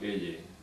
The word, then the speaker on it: Eye: Este hombre se llamaba Eye, no Teye como la reina, Eye, se escribe como ojo en inglés, Eye.